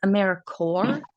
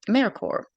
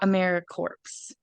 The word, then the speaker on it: AmeriCorps: so first we like to clarify it is aeric cor that is the way that it is pronounced sort of like peace core job core um Amer Corp not AER corpse and our next member meeting on September 16th